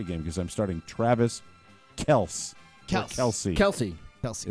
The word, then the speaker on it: Kelce: It's Kelsey. How It's do you Kelsey, spell it? right? K. You don't make it worse than it is by K-E-L-C-E. asking me to spell it. Thank you. Phonically, It's Kelce.